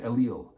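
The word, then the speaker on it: אליל: The Hebrew word, we would pronounce it Elil, and it means nothing.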